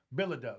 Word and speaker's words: Bilodeau: The mayor that I'm supporting, Bill, how do you say Bilodeau? Bilodeau, right.